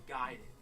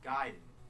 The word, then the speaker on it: Gaiden: We're talking Ninja Gaiden. Everyone always said Ninja Gaiden, but I know for a fact it's Gaiden. You know where I learned that?